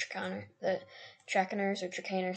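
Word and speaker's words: Trakehner: the tracking ours or chicanery some people see track nurse I don't know if that's how you pronounce it but I'm pretty sure it's chicaner I love this one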